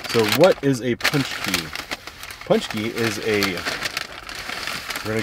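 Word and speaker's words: pączki: from my truck so here is how you pronounce punch key it's punch key which i always thought it was paxy i don't know it's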